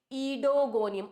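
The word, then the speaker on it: Oedogonium: कैसे प्रोनाउंस करेंगे? ओ ई डी ओ जी ओ एन आई यू एम यह तो है स्पेलिंग इडोगोनियम ओ ईडो मत बना देना इसको। What is इट? इडोगोनियम ओ इ साइलेंट हियर।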